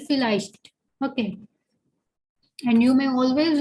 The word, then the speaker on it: vielleicht: Okay, V, it starts with V, but we know that V has the sound of F, so we'll be calling it vielleicht.